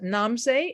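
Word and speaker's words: Namse: and what uh uh it's uh namsay and i'll spell that it's um n a m s e nam say and then the second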